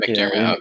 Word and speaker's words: McDiarmid: How do you pronounce this guy's name? Is that his name? McDiarmid. Ian McDermott.